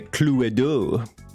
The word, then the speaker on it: Cluedo: it to go fish you say cluto in France as well no you say clue do we are playing Cluedo you pronounce the e in German hey sweetie what's going